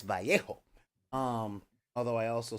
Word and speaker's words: Vallejo: least speaks Spanglish and it is spelled EA um b-a-l-l-e-j-o that's not Val ledge oh it's not bellegio and it's not Vallejo it's Vallejo um although I also